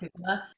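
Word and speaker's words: jícama: It's spelled Jicama, jicama. But in Spanish it's pronounced jicama.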